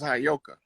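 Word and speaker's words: heyoka: was telling you that word is properly pronounced as Hayoka.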